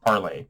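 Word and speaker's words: Parler: is the censorship of parlor or parlay if you wanted to pronounce it with the french terminology which i think is what it's based on you know that's just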